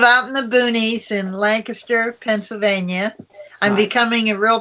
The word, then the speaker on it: Lancaster: in the boonies in Lancaster Pennsylvania I'm becoming a real Pennsylvania now because I'm pronouncing it correctly Lancaster instead of like faster originally I am from